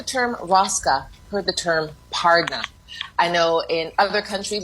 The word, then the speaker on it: pardna: So you hear it sounds like Pardna, P-A-R-D-N-A.